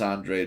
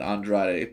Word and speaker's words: Andrade: Andrade fight or Demetrius Andre fight for whichever way you want to pronounce it I'm pronouncing it Andrade because I believe that's how it's pronounced in the Cape Verde uh type of pronunciation but anyway neither here